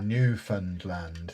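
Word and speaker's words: Newfoundland: The answer to that new fund land.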